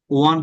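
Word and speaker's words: one: এরপর কি হইলো, খরগোশ জিতে গেল, উইন, ওয়ান হবে, উচ্চারণ হবে ওয়ান, ওন বলেন আপনারা, রাইট? এটা ওন বলবেন না, ওয়ান।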